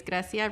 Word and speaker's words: Grecia: give me your question yes my name is gracia my friends call me gracie and my name is spelled g-r-e-c-i-a-r-i-v-a-s and my class year is 2013.